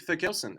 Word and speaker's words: Therkelsen: let's uh let's get underway uh so nick for kelson am i pronouncing that correctly your last name yeah you